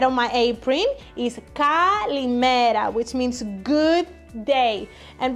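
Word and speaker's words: καλημέρα: So the way we say kalimera, which is right on my apron, is kalimera, which means good day.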